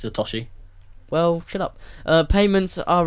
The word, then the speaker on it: Satoshi Nakamoto: It's actually, yeah, you said Satoshi. It's Satoshi.